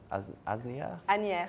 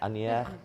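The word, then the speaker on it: Asnières: there was a 6-0 scoreline in the clash between, pronounce it for me, Fiona, Asnier? Anier.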